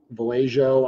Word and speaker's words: Vallejo: so I don't know I think it's pronounceable a ho that's how I pronounce it Vallejo I don't know it's